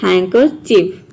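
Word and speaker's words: handkerchief: अब यहाँ पे देखिए डी जो है ये यहाँ पे साइलेंट है, मतलब हम डी को प्रोनाउंस नहीं कर रहे हैं, केवल यहाँ पे HAN को हम प्रोनाउंस कर रहे हैं हैन।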